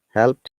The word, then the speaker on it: helped: they said ask it they can't pronounce hell they said help it i've had it thousands of times so it's it's really like this helped oops yeah helped just eed becomes t that's right asked out